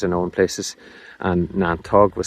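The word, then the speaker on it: neantóg: well-known word for nettle in Irish language is niantog. Niantog, so that's a lovely word, too. And that's said in Donegal, as well, as far as I know in places. And niantog was said in Minawny and Glenties, as well,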